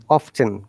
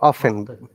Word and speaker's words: often: okay and not regular often or often often both are correct remember that often often both are collagen that you can use pronunciation it depends how you'd like to pronounce it so frequently is an